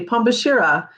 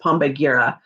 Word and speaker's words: Pombagira: Pambashira, Pomba, separate word, Gira. It doesn't look like it says Pambashira, but it does. It looks like it says Pombagira, but that's not how you pronounce it.